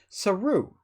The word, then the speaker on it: Saru: it's a Japanese word because it looks like a Japanese word and it means monkey in Japanese, and he's not a monkey, so I want to make sure I don't say it with Japanese pronunciation.